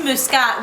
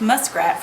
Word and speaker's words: Muscat: So we went to Muscat, which the redneck in me pronounced muskrat for a long time.